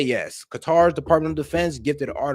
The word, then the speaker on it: Qatar: Now, let's explain the Qatar. Qatar. I don't know why they cut cutter. I do not understand. Like, do you not see how that is spelled?